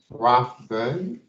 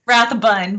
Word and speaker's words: Rathbun: We do have Monica Rathburn. Am I saying it right, Monica? Rathbun, but yeah, we're good.